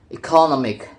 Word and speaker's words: economic: In the base word economy, the stress falls on the second syllable. However, when the suffix ic is attached, the stress moves to the syllables immediately preceding the suffix, producing economic.